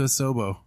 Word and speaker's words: Asobo: So shout out to Asobo.